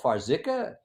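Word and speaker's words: Farxiga: drugs first sglt2 i don't know how to pronounce this f-a-r-x-i-g-a i believe that one is made by astrazeneca is it called farzika it's it's dapper it's dapper it so f-a-r-x-i-g-a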